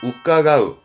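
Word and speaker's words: 伺う: 우까가우, 우까가우.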